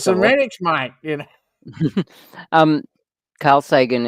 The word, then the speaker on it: Zemeckis: Contact, was that Robert Zemeckis who did it?